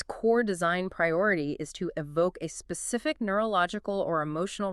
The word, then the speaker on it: EVOC: And the author makes a big deal about the pronunciation. Yes, evoke.